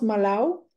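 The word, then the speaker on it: Malav: village qui s'appelle malao même si ça s'écrit avec un V à la fin ça se prononce Malo et et donc c'est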